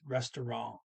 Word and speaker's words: restaurant: As a matter of fact, the N ends with a little nasal only N, so it's restaurant. Okay, kind of like a little French accent. Restaurant, restaurant. Of course, they, this language stress the last syllable. French wouldn't do that.